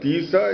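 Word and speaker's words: Atisha: Tisa is the actual name of Atisa. Atisa is a mispronunciation of Tisa, and Jha is a preacher.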